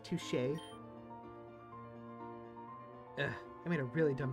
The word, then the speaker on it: touché: Touchy. I think it's pronounced touché.